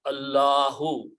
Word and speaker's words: Allahu: When we say Allahu Akbar, we say full word. But if this word is at the end, we do not pronounce this dhamma, Subhanallah or Alhamdulillah.